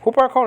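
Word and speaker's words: ὑπάρχων: Huparkon is spelled out Upsilon with the rough reading, so it's Hu, and then you got the P.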